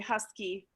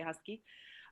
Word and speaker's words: Husk: Husky, actually the correct pronunciation is Husk German, but here we say Husky.